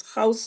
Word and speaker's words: House: House, let me pronounce it as House. Is that a new hand, Honorable House, or a legacy hand? No, it's a new hand, Chair. Okay, please go ahead, Honorable House. And thank you, and you're pronouncing it perfectly.